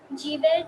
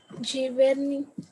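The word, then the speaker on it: Giverny: तो इधर जीवेर नहीं आएगा कि जीवेर नहीं आएगा. अगर जो हम लोग जी को जे के जैसे प्रोनाउंस करते हैं तो इधर क्या आएगा. giverni, जीवेरनी.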